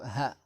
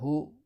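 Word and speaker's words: هَ: On prononce ça Ha. Et non pas Hu ni Hi.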